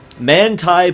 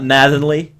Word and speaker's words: Manthey: Maturo Umbara, who drives the Manthey Porsche. I finally figured out how to pronounce that, by the way. It's not Mathenly.